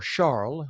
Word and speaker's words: Charles: Investigators say 36-year-old Georgie Charles or Charl, I believe he is Haitian.